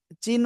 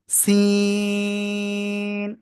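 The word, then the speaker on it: سين: অক্ষরটার নাম কি আসলে জানেন একই জায়গা থেকে উচ্চারণ হবে এ অক্ষরটাও সি অনেকে কিন্তু চায়নার যে চিন বলে ওই চিন বলেন কিন্তু চীন না কিন্তু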